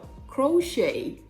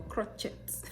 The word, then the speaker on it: crochet: and sashi sashi si same thing goes for crochet crochet are you wearing crochet is your hair crochet not is your hair cross shirts or crotchets i've heard that word